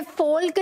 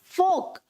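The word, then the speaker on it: folk: ये फोल्क नहीं है, इट इज फोक।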